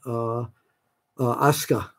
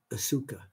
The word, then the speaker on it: Asuka: I used to pronounce her Asuka, A-S-U-K-A, but I don't do that anymore.